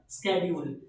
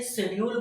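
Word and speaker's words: schedule: Next है हमारा, when can I check the स्केड्यूल। Basically लोग इसे शेड्यूल बोलते हैं, लेकिन ये स्केड्यूल है। इसकी जो प्रोनाउंसिएशन है वो है स्केड्यूल। स्केड्यूल मतलब ट्रेन का जो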